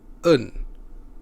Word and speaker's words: een: un boat in Dutch then it is pronounced as un as an unstressed e we will cover this